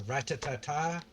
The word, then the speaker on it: Rattata: I've heard ratatata. I've heard rata. I've always just stuck with rata because, like, in the old N64 days with Pokemon Stadium, that's just how they pronounced it.